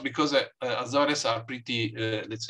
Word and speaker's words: Azores: I don't know how to say it in English. Azores, yes. Yeah, Azores.